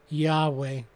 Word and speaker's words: Yahweh: word is pronounced nowadays we tend to add an a and e for verbal capacity turning the word yhwh into yahweh but scholars have noted